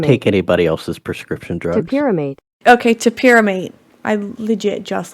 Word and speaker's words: topiramate: How to pronounce? Don't take anybody else's prescription drugs. Topiramate.